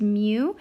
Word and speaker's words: mu: a curly tail in the front this is pronounced mu it is a unitless number ranging from 0